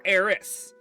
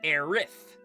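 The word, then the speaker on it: Aerith: So the fun part is it is both it her name can be pronounced Aith or Aerys. However, it has been confirmed that her name is supposed to be Aith. That is the correct English pronunciation.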